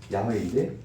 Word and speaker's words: 야훼: 군대 가가지고 처음으로 순복음교회 만났는데 성경책에 보니까 성경책에도 야훼 하나님 적혀 있는 거예요. 자, 이 사람들이 그래가지고 이게 뭐지? 이단인가? 이렇게 생각했는데 그건 아니고 원래 발음이 야훼인데 히브리인들도 자기들도 어떻게 했는지 몰라가지고 까먹었다가 최근에 연구로 인해서는 이게 맞다.